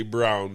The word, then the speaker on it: Braun: Braun is playing well now. Christian, I call him Braun, that. but they say Brown. It's spelled Braun.